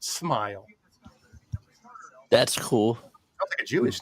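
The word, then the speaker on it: Smael: His name's Smile. That's cool. S M A L pronounced Smile.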